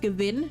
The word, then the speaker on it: Gavin: And his last name is most likely a pun on the German word Gewinn. So technically, it would be pronounced Gewinn, not Gavin.